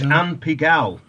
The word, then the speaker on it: Anne Pigalle: We've got, how do you pronounce this? Anne Pigalle? Yes, this is Anne Pigalle, the last chanteuse, a friend of mine.